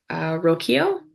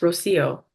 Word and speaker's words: Rocío: Next, we'll have Rokio. I hope I'm pronouncing that correctly. Nia, can you repeat the name of the person who's next? Rocío. ¿Me escuchan? Oh, Sí. sorry, it's pronounced Rocio.